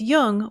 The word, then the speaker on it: Jung: or on tune in just be sure to pronounce Jung with a heart J so with special thanks